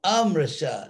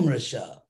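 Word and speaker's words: amṛṣā: esse apóstrofe em Mrsha, esse apóstrofe se refere a um som A que foi eliminado. Não eliminado assim gramaticamente, mas só na pronúncia. Na pronunciação, um A foi eliminado, e esse apóstrofe, porque esse apóstrofe representa A. Então, Amrsha, não Mrsha, não ilusório.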